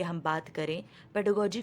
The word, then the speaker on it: pedagogy: अब यहाँ पर मैं बता दूँ, प्रोनाउंसिएशन इसका पेडागोजी है। बहुत सारे लोग पेडागोगी बोलते हैं, वो सही प्रोनाउंसिएशन नहीं है ये वर्ड का। Okay, it's पेडागोजी।